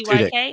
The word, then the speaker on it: Tudyk: You're also Alan, I never know how to say his last name, Tudyk, Yes, Tudyk.